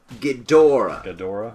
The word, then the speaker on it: Ghidorah: Ghidorah. Emphasis on the middle syllable.